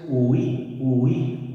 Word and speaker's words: huí: En cambio, tú pronuncias huí, yo huí. Efectivamente, esta la hacemos bisílaba.